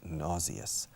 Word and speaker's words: nauseous: And you feel nauseous. Nauseas, okay? Nauseous en inglés, pero se pronuncia nauseous. Fijaos en la terminación de la palabra, la terminación fonética.